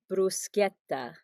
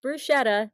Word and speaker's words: bruschetta: there who don't know it is brusqueta not bruschetta bruschetta is what the